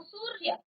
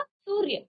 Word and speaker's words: सूर्य: ऊ की मात्रा सु, उसके बाद जो ऊपर रॉ लगी है उसका उच्चारण आता है, ठीक है ना। ऐसा नहीं कि बाद में, इसका उच्चारण पहले आएगा। तो सूर्य, क्योंकि आधा रॉ का उच्चारण है तो रॉ पूरा नहीं आएगा, क्या आएगा, सूर्य, तो पहले रॉ आएगा।